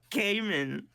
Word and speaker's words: Cayman: him kid and you're just like screw off pronounced Cayman c a y m a n no but